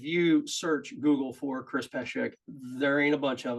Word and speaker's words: Pesek: Chris Pesek. I always say it wrong. Yeah, Chris Pesek. I always say Pesek. He doesn't even tell me I'm saying it wrong. Chris Pesek. Pesek.